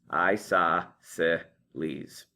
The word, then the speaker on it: isosceles: I-S-O-S, sauce, C-E, cell, or C-E-L, cell, and then E-S-Es. Isosceles. That's an S-E-C, not a hard C.